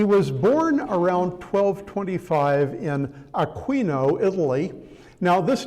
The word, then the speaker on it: Aquino: He was born around 1225 in Aquino, Italy. Now, this name is common in Spanish and is pronounced Aino there, but in Italy, the place is Aquino.